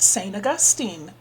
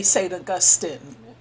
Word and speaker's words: Augustine: did you know that St Augustine was black or you could say St Austin you people pronounce it differently uh I tend to